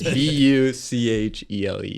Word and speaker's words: Buchele: Yeah, Buchele is a weird one. It's Buchele. Is it German? It is German, yeah.